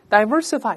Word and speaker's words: diversify: 但有的人也把它读成 diversify，第一个 i 发 a，发 i 都可以。